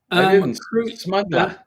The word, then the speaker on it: smuggler: You know, don't don't pronounce the last R. Smuggler.